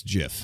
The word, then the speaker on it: GIF: a thing with me it's pronounced jiff fair enough like giraffe like gist it's a thing damnit